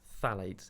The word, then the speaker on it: phthalates: Well, the plastic is the concerning one because the plastics is the phthalates in the plastic, spelt PTHALETS. Silent P at the front.